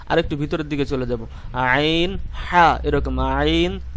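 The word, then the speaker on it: عين: ঠিক সামনের পাশ দিয়ে আমি হামজা হা এটিকে উচ্চারণ করলাম। এখন আরেকটু ভিতরের দিকে চলে যাব, আইন হা, এরকম আইন হা, আইন হা।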